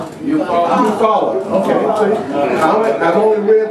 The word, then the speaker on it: Eufaula: Rosewood, Tulsa, Wilmington, North Carolina, Eupholia, I hope I'm pronouncing it right, Eupholia, Alabama. Anybody know about the election? Eufaula.